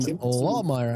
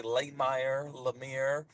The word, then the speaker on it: Lahmeyer: Jackson Lawmire. I believe I'm pronouncing that correctly.